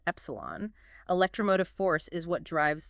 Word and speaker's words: epsilon: F and represented by the Greek letter Exelon pronounced Epsilon electromotive force is what